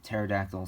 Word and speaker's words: pterodactyl: like pterodactyl where the p is silent um that that is a that is funny and funny enough yeah pterodactyl starts with a p anyway on to the